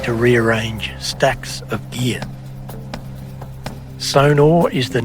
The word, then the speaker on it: Sonor: Sonor is the name, or Sonor, that's how it's pronounced. It's often mispronounced sonar.